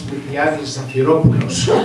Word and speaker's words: Miltiades Zaphiropoulos: I think I'm here because I'm one of the few people that can correctly pronounce Miltiades Zaphiropoulos.